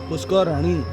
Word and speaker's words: Pushkarini: Pronunciation is Shwetaganga Pushkarani.